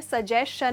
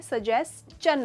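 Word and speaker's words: suggestion: That is an excellent सजेशन, अच्छा, एक मैं इसका मतलब समझा उसके पहले इसकी प्रोनाउंसिएशन में कह दूँ, ये सजेशन नहीं होता है, सजेस्चन होता है।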